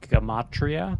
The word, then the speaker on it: gematria: Real quick, just to explain a little synopsis of gematria, or I think it's pronounced gematria.